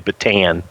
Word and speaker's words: Bataan: to go to to get a job in the Bataan Americans say patan the patan refugee camp the refugee processing